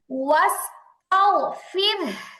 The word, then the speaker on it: واستغفر: بحمدي রব্বিকা ربك ربك ওয়াস্তাগফির। واستغفر আচ্ছা এখানে দেখেন র সাকিন, হ্যাঁ র সাকিন তার ডানে জের আসছে এবং বামে ওই 7 হরফের কোনো হরফ নাই, মুস্তালিয়ার কোনো হরফ নাই, রটা পাতলা হবে।